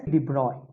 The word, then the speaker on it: de Broglie: Actually, it is pronounced as de Broglie.